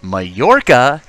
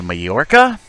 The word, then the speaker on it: Mallorca: review two comments so a fan was nice enough to correct my pronounced pronunciation of the word Mallorca it's actually my Orca so forgive my American accent but if I do